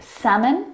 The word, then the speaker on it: salmon: other English words that have a silent letter L in them. Words like salmon, Salmon.